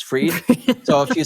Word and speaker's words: Fried: And Sierra, a lot of people spell my name B R A I N for some reason and they pronounce my last name as fried but it's freed.